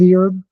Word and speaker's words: herb: you're talking about Med herb I know the yeah no it's many her don't pronounce the h you don't you don't